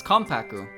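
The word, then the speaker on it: Konpaku: pakuyomu is also pronounced like an m but it's written with an n right so it's kompak it's kompaku but it's k-o-n-p-a-k right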